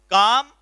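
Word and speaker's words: calm: defeats Asif with जो काम and qualities यह जो वर्ड है इसकी उच्चारण पर आप ध्यान दीजिए कि इसका प्रोनोंसीएशन होता है सीधे लिस्ट में साइलेंट है इसको काम बोलिंग काम एंड व्हाइट काम एंड ई वास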